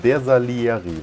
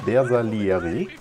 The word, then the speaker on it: Bersaglieri: Das G spricht man hier, hat jemand geschrieben, ne? Bersaglieri wahrscheinlich, ne? Bersaglieri.